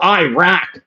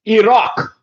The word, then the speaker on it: Iraq: see people pronounce, "Oh, Iraq. Iraq." No, it's not Iraq, you uncultured American. It is pronounced Iraq. It is pronounced Iraq. Say it with me. Iraq, okay? Not Iraq. "Oh, we're going to Iraq.